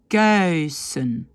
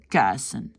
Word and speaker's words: kuisen: Normalement, on doit dire thuis. On doit dire luizen, kuisen. Mais beaucoup de flamands ne disent pas ce petit i et donc disent thuis, luizen, kuisen.